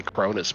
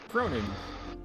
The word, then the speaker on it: Cronin: I keep wanting to say Cronis, but that's not it. Cronin. Cronin. Like like Croninberg. Think Croninberg.